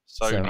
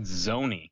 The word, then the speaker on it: Sony: what I've heard, they actually have to pay Sony to upload a new update every game. Yeah, it's only PS4. Like it's only the. Sony. I thought you said Zony.